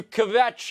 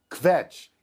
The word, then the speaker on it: kvetch: It's a really nice job you're making kvetch into a two-syllable word.